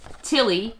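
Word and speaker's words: Ptilly: So this is Fernessa, and her pet is Tilly. The P is silent.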